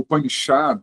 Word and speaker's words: Upanishad: Hoje eles começarem a falar, as pessoas começarem a falar, não se fala Upanishads, né, como se fala em português. Só se fala Upanishad porque no sânscrito não tem plural no Upanishad.